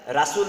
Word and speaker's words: রসূল: আমাদের নবী একমাত্র আমাদের রসূল শেষ রসূল আমাদের যিনি কেয়ামতের দিন সুপারিশকারী হবেন জান্নাতের যাওয়ার জন্য আমাদের যিনি কান্ডারী হবেন রসূল মোহাম্মদ তো রসূল শব্দটা আরবি বাংলায় রাসূল না বরং রসূল শুদ্ধ উচ্চারণ হবে রসূল আপনারা হয়তোবা